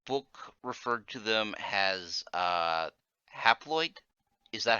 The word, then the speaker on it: haploid: Uh, the book referred to them as haploid. Is that how I pronounce it?